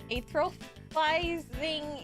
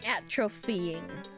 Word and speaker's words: atrophying: It helps prevent the muscles from atrophizing in zero gravity. Did I say it right? It's like when you go up from like scuba diving, right? Atrophying. Thank you.